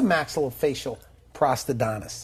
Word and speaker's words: maxillofacial prosthodontist: What's a maxillofacial prosthodontist?